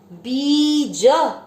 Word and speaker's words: बीज: बीज, बी पे बड़ी मात्रा लंबा खींचेंगे। ज में अ मिक्स करेंगे बीज।